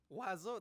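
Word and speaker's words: oiseau: whole language for example this word in French means bird and it's pronounced um what wo wazo this is pronounced wazo like anyway I'm putting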